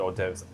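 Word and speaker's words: hors d'oeuvres: or in my mind when I first learned the word or divs I thought it started with an O and I don't know. Yeah the silent H will get you in French.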